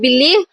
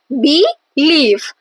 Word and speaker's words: believe: For example, in the word believe, the second syllable leave, as we pronounce the word believe, believe. So the second syllable, that is leave, is stressed.